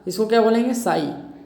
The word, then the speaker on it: psi: ठीक, इस साइन को बोलते हैं साई, PSI। पी साइलेंट है, आपको पीसाई भी बोलना है, पीसाई भी बोल लो।